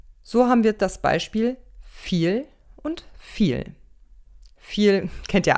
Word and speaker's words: viel: zum beispiel sehr oft mit dem buchstaben v der wird oft nicht immer aber oft wie ein f ausgesprochen so haben wir das beispiel viel und viel viel kennt